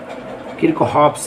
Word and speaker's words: Kirchhoff: अब लोग जो पढ़ेंगे किरचॉफ का नियम पढ़ेंगे, किरचॉफ डेट जिसको बोलते हैं, और जो मैं बोलता हूँ उसको किरचॉफ्स लॉ बोलते। तो स्पेलिंग ध्यान से सुन लो, किरचॉफ्स का स्पेलिंग